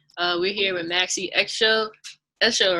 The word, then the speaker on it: Esho: Esho, right? That's your last name? Yeah. All right, make sure I pronounce it right.